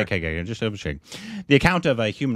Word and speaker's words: Shahid: It's Shahid, like Shahid Kapoor. Okay. Just over Shahid.